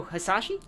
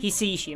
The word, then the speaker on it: Hisaishi: One thing I'm also loving is the music by Joe Hisashi? Joe Hisaishi? Hisaishi, I'm sorry, I pronounced it wrong.